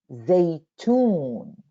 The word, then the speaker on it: زيتون: زيتون, look when I say they, it's like I stop. Zaytun, zaytun. It looks like syllable. Z and ye. We take z and ye. Then it looks like we are stopping. Zaytun, zaytun. Because there is sukoon here.